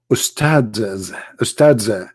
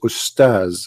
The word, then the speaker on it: ustaz: Ustads. Even they don't know even how to say the word because the word ustads is not correct in the way they say it. The word in Arabic is ustaz, which means a master, teacher.